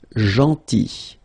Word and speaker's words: gentil: Then, gentil. So remember, this final L is not pronounced. Gentil.